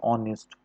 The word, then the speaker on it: honest: तो ज़रा ध्यान दिएगा, आर, HOUR, HONEST, ऑनेस्ट, HER, ये जो 3 वर्ड होते हैं इसमें शुरुआत का जो H होता है वो साइलेंट होता है।